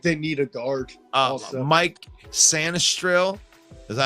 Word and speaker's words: Sainristil: Mike Sanistril. Is that how you say it? Sainristil, yeah.